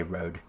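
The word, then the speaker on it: Rohde: but we'll just say road uh i don't know i assume the h is silent so anyway so he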